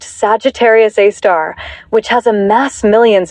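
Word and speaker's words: Sagittarius A*: This center is dominated by a super massive black hole called Sagittarius A, pronounced Sagittarius A star, which has a mass millions of times greater than our sun.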